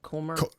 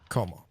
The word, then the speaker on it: kommer: And then, so is real quick though, is the O in Kommer, how do you say Kommer? Kommer. Like Homer but with K. Okay. Kommer.